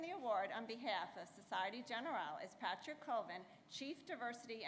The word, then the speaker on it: Société Générale: Société Générale, or Société Générale, I try to say it the French way. Did I say it correctly?